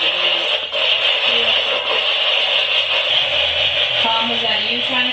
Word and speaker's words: Dooley: Because when that was Tom's name was actually Thomas Dooley, but they pronounced it Dooley.